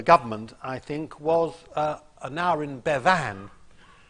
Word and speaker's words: Bevan: I think, was Aneurin Bevan. Churchill always used to put the emphasis on the second syllable because he rather liked Bevin, but did not like Bevan.